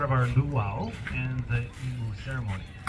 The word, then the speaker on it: imu: our luow and the Emu ceremony now emu is spelled I am meaning cooking pits or underground oven not em Bird yeah so we are